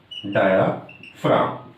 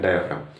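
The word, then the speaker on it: diaphragm: डायाफ्राम, यहां जी silent होता है, डायाफ्राम।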